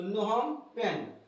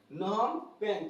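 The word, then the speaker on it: Phnom Penh: होता है ना सेफ बोलने में जो है स्पेलिंग अच्छा हो जाएगा तो कंबोडिया का याद रखिए कंबोडिया का क्या राजधानी है तो नहम पेन नहम पेन कंबोडिया की राजधानी नहम पेन कंबोडिया की राजधानी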